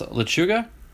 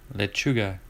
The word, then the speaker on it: lechuga: little bit you should you should have heard donald pronounced lachuga the other day epic fail lachuga like lettuce i'm gonna eat lettuce lechuga is there a player